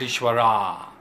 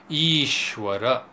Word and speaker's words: Ishwara: Jeeva the individualized soul Ishwara not eshwara Ishwara and then abhyasa not